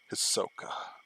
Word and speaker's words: Hisoka: x hunter um i like these okay or hizoka i don't even know how to pronounce him hisoka yeah he worked as a good uh counterpoint